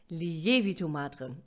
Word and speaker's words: Lievito Madre: Nó được gọi là Lievito Madre, vì vậy điểm nhấn là chữ "e".